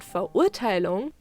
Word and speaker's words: Verurteilung: as a masculine pronoun, and Verurteilung with a very important oo sound, which is very different from the English you, or how English speakers say it in this word.